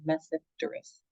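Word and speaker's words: Tmesipteris: There's 2 genera, Psilotum, that genus, and then again, the T in front of another consonant in science is silent. So that second genus word, you just say Mesipterus, Mesipterus.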